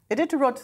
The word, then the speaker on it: Iditarod: oh, God, I should have asked someone to pronounce this. Iditarod. Iditarod sledders.